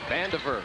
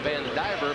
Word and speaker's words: Vandiver: press they're going against vandiver strong to the basket a lot of folks across the state call him van diver but vandiver is how he pronounces it if he wants to